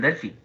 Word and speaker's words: Delphi: Es más, probablemente ni siquiera sepa cómo escribir el Delphi. Porque yo lo estoy pronunciando como tal y usted diría, ok, es como delfín. Y no. ¿Verdad? Porque es en inglés.